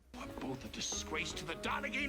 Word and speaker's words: Donaghy: Both a disgrace to the Donaghy name. It's pronounced Donna Fee, you lace curtain happening.